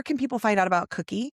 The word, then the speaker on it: Cuqui: Where can people find out about Cuqui? Not spelled like Cookie. It's spelled like No, your mother-in-law's name.